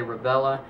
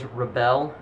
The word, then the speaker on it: Rebelle: I believe the correct pronunciation of it is Rebelle or Rebel, something to that extent.